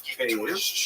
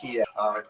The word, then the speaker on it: Kyiv: That's the Ukrainian pronunciation, by the way. That's favored today because, of course, Ukrainian is the dominant language in the country, but it used to be called in English Kiev, which is closer to Russian pronunciation, because Russia dominated much